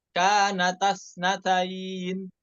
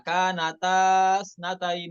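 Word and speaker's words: كانتا اثنتين: Kanatasnatain, jadi bukan dibaca kanatasnatain, bukan ya, alifnya dibuang ya, seperti itu.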